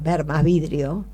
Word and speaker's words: Seymour: es simorgh las que cuya fonética es ver más vidrio este se escribe seymour